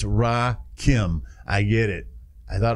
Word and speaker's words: Rakim: It's Rakim. I get it. I thought it was Rakim.